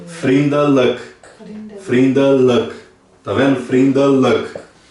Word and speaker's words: vriendelijk: Vriendelijk. Vriendelijk. Tá vendo? Vriendelijk. Então você pode ver que a pronúncia é escrito com IJ, mas tem o som de E.